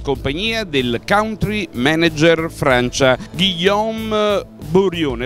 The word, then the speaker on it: Guillaume Borione: del country manager Francia, Guillaume Bourrion. L'ho pronunciata bene, Guillaume? Sì, sì, bene, grazie.